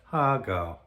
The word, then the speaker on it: har gow: And that's how you should say it if you're in a Chinese restaurant in a dim sum house and you want to order it and you want to sound good. Say it like that, HAR GOW.